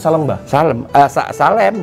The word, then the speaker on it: Salemba: Salemba atau Salemba? Salem, saya bacanya Salemba karena itu kan selam.